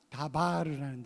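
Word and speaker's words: דבר: 그 밑에 단어는 뭐냐면 다바르라는 단어예요.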